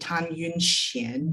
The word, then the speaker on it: Tan Yun-hsien: And I love that you included Tan Yun-hsien. Did I pronounce that?